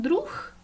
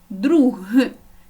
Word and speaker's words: друг: звук гриб ніжка друг якщо говорити нечітко можна почути наприклад друх в кінці звук х але в кінці стоїть г і тому чітко маємо вимовляти друг і тоді правильно будемо